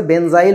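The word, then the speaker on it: benzyl: বুঝেছো সো ঘটনা হচ্ছে বেনজিনাইলের চেয়ে আমাদের কাছে বেনজাইল সুন্দর লাগে এই কারণে আমরা শব্দটাকে কি বলবো বেনজাইল বানানটা কি বি এন আচ্ছা আগে বাংলায় লিখি নাকি দো বাংলা ইংরেজি দুটাতে লিখি বেজাইল এই বুঝতো এটাকে আমরা বলব বেনজাইল মূলক ইংরেজিতে বললে কি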